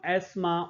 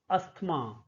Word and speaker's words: asthma: they are suffering from asthma or asthma. Asthma, both pronunciations are correct. Asthma as well as asthma. Asthma is standard pronunciation and asthma is acceptable pronunciation.